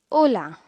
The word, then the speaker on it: hola: Remember, this greeting starts with the letter H, which means it will be silent and the word will be pronounced as hola.